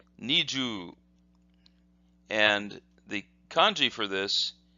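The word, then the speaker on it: 二十: But in this particular case, this word has an elongated U sound, and this is the hiragana for U. So this becomes ju, ju. So this is pronounced niju, and the kanji for this looks like this.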